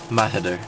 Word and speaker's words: Mahider: So it's pronounced Mahider.